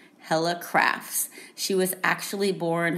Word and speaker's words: Helle: people pronounce her name heli because it's spelled h-e-l-l-e but i did some digging and some research and according to the internet um it says that her name is pronounced hella hella crafts she was actually